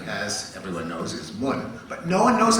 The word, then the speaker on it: mun: M-U-N, well, that would be mun, not mun, it rhymes with sun and bun and so on.